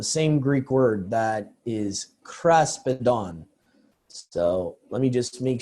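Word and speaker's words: κράσπεδον: All right, so we're going to mainly look at this Greek word that is pronounced as kraspedon, which I said before in the English Septuagint 100% of the time is translated as tassel or fringe.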